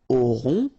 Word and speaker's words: aurons: Okay, nous aurons. Final S not pronounced. O and N together, nasal. On.